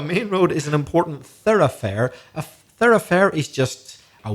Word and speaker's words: thoroughfare: an important third affair i better spell that word t-h-o-r-o-u-g-h-f-a-r-e no relation from the spending to the to the pronunciation so a main road is an important thoroughfare a thoroughfare is just